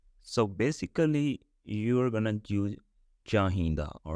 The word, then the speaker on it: ਚਾਹੀਂਦਾ: Anyway, so there are three pronunciation, and I'm gonna use chahinda pronunciation because that's what I used.